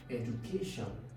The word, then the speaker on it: education: without knowing these rules, you should be able to pick that the stress is on the third syllable. You have education.